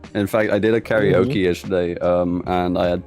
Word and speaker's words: karaoke: a japanese word however the more proper way to say uh karaoke is the japanese way okay yeah exactly yeah